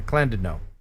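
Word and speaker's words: Llandudno: queen of welsh resorts clanded no and i only know that because he put a pronunciation thing in there clan did no little history for you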